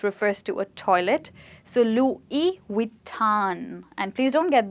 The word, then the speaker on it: Louis: But we usually call it Louis Vuitton, which is a French name, and French people do not pronounce this word as Louis, they call it as Louis.